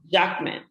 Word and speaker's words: Jacquemin: really bad with pronunciations. Correct me, please. I always ask to be corrected. Jacquemin. Jacquemin.